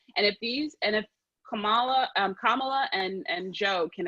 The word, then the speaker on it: Kamala: want to say about the kamala episode it's pronounced kamala that's the name of the episode go vote